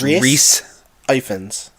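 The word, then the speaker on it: Rhys Ifans: When I looked him up, it was Reese Ifans.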